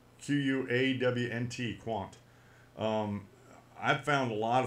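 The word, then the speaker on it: Qwant: It's from France, Quant, and it's spelled just like you think it sounds, Quawnt, Quant.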